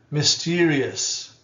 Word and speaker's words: mysterious: Mysterious, mysterious. Not mysterious, mysterious, mysterious. Us, schwa at the end.